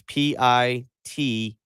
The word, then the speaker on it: Pitino: If you're going to send in Rick Pitino, it is Pitino.